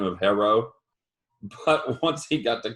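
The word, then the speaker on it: Herro: tyler herrera phenomenal player say his name right say hero say it you can do it i mean i thought is it hero or is it hera it's hero i've heard conflicting uh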